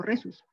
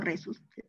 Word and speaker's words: rhesus: Ahora, tú dirás, Missy, ¿por qué hizo con ese mono Moccaco rhesus?